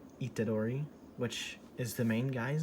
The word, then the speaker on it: Itadori: that's one of the main gimmicks of yuchi itatori itadori which is the main guy's name yuji itadori i'm i always pronounce them so right in my head why